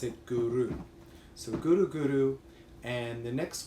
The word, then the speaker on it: guru: thing we ask is when you pronounce guru or when you're chanting it to use the tip of your tongue by the roof of your mouth back of your teeth so it sounds like this gurus you roll the arabian